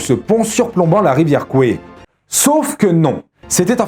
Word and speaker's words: Kwai: début de la vidéo je me force de prononcer Coué et non pas quoi alors que toute ma vie j'ai bien prononcé le pont sur la rivière Kwaï et bien c'est parce que c'est la véritable prononciation en thaïlandais quoi existe aussi mais